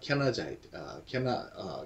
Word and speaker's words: Kenizzite: 네, 그래서 여분네 아들 갈렙과 즉 그는 캐나자이트 캔 족속이든 12절에 캐나자이트를 우리 성경에 이게 어느 족속인가 한번 볼까요? 우리 성경에 그나스 사람이라고 있는데 그나스 사람 이렇게 표현하고 있어요. 그나스 사람 캐나자이트죠. 영어식 발음.